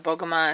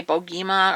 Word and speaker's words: Bogoma: I hear people say Bogima or but I had a guidance counselor in my high school, and her last name was Bogoma, and it was spelled the same way, so that's how I say it.